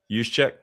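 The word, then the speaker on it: Juszczyk: I don't know how to pronounce that fullback's name. Yuseek.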